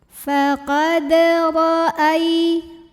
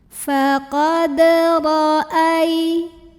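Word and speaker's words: فقد رأى: Ro-nya dibunyikan secara tafkhim karena ro-nya berbaris di atas. Bacanya tebal, lidah dinaikkan yang belakang, pangkal lidah ya, ro. Faqad ra'ai. Ai ada huruf lin karena ada ya sukun yang didahului baris fathah. Cara membunyikannya dilembutkan atau dilunakan.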